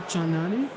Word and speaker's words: Chandnani: and Distribution Strategy at Pyramid Global Hospitality, Chandnani. how are you? Well done pronouncing my last name, Trevor.